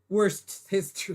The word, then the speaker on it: Worcestershire: That's how you pronounce it. Not a. Adobo. Adobo. Worcestershire sauce.